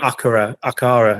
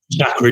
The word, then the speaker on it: Acura: I kept calling it Akara, and Chris was shouting at me. Acura, James, just Acura.